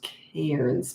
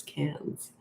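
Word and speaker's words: Cairns: A lot of people think that's pronounced Cans, but it's Cans.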